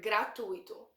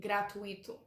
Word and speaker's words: gratuito: Also, note the pronunciation of the word gratuito. The stress is on the U. So as a foreigner, it's very natural to want to say gratuito, but it's not.